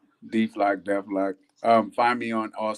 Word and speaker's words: Deflock: Everybody says it different, but it's Deflock, Deflock, Deflock.